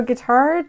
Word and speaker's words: Guittard: look at this so guitard chocolates think of it like guitar the instrument that's how you pronounce it established in 1868 way